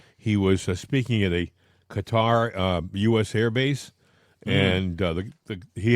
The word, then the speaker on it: Qatar: I think they pronounce it by the way Qatar. I I heard uh one of That's what I've always said Qatar. You said cutter and so I hear cut I hear cutter all the time.